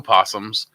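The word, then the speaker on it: opossum: with o right o possums so we have the North American we have the North American possum with a silent o you guys have possums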